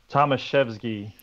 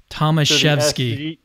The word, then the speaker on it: Tomaszewski: And today I'm also joined by Tomaszewski. You're going to have to help me. Tomaszewski. Tomaszewski. The S is pronounced like an SH and the W is pronounced like a V.